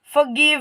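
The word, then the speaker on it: forgive: फॉरगिव कहेंगे सिर्फ फॉरगिव इसमें जो आपका आर वर्ड है य आपका साइलेंट है आपको लिखा तो जाएगा लेकिन इसकी जो साउंड बोलने में आएगी वह आपकी साउंड बिल्कुल भी नहीं आएगी तो इसको कैसे बोलेंगे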